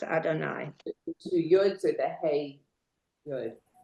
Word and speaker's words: Adonai: And while Elohim is pronounced, it is written, Adonoi is not. Rather, it is pronounced Adonai.